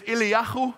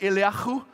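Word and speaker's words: אֵלִיָּהוּ: His name Elijah in Hebrew it's Ilahu. Can you say that? Ilahu. Yahu. There's supposed to be a bit of flem.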